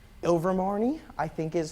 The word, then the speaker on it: Ilvermorny: Rowling has revealed that the name of the North American Wizarding School in the Harry Potter universe is called something I can't pronounce. Ilvermorny, I think is how it's pronounced, but many